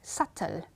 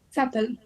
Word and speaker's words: subtle: d in this case we have some words where B is silent that means that we don't pronounce that letter I'm going to read